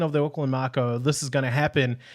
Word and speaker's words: Mako: all the time too, because I would always pronounce it Mako with a Canadian accent, but it's Mako.